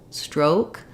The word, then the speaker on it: stroke: um yeah you just want to watch out that you hold it a little longer so not stroke but stroke oh closing a little